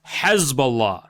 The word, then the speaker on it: Hezbollah: Jews who are native to the region pronounce it as Hezbollah, okay?